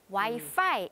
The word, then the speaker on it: Wi-Fi: 그러니까 이제 와이파이라는 단어가 그냥 한글처럼 이렇게 와이파이도 쓰이는데 영어로 말씀하실 때에는 F 쪽 발음에 그렇죠. 조금 더 신경을 써주시면 좋을 것 같습니다. Wi-Fi 이렇게요.